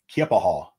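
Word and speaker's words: Keya Paha: and uh she said honey everybody says it wrong nobody knows how to say it I've heard kiapaha uh some folks say it's Native American I don't know exactly which tribe up there um but it's kippahall or kippahall is the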